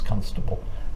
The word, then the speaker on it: Constable: Thug of a police Constable uh on Hampstead Heath I noticed that I noticed you when you said Constable you emphasized the first syllable yeah yeah um Naughty